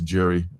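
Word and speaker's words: Gerry: So yeah Jerry Conway was pronounced Gary. Is it pronounced Jerry? I think it's I think it's pronounced as a as a as a Jerry. I don't think it's I don't think it's Gary. I think it's Jerry. I was pronouncing right the first time. But I used to always pronounce it wrong, you know, because it was that G there.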